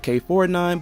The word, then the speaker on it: K9999: Yeah, I know you actually pronounce it K49, but even with that it doesn't make it any less odd.